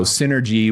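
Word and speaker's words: Fyn3rgy: So, this first one is called Synergy, but it's spelled f y n 3 r g y. So, Synergy with numbers for the the vowels other than the y's, if you consider y a vowel.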